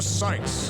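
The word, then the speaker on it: Cykes: for the trial of Athena sites Athena that's how they pronounce it the defense was born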